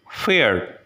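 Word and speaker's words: Pferd: Here we have the example of the word fared, fared, which means horse.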